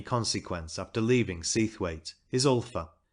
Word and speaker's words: Ulpha: The next place of any consequence after leaving Seathwaite is Ulpha, pronounced Ufa by the dalesmen.